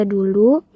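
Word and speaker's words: doeloe: Misalnya, huruf o digunakan untuk bunyi U yang tertera pada contoh yaitu kata doelo itu dibaca dulu.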